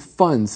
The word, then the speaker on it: funds: this word fund and if we say it as a plural it sounds like the word fun okay you almost don't hear the D but there is a D there there is fun there